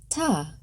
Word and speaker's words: Tet: Tet, pronounced "tah".